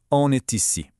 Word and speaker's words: on est ici: Did you catch that little sound bridge? The N in all linked up with est to make it sound like one word, on est ici.